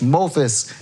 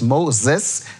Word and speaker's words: Moses: of the men which mothis is we say f for us but it's Moses the f is an S send out to spy